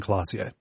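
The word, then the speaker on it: Klaasje: cl cl classier yeah claz yeah CL they very kindly give you a small pronunciation guide so it's Revel AR and classier yeah yeah yep um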